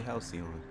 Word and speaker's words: Halcyon: I was actually pronouncing it right this whole time. It's actually Halcyon.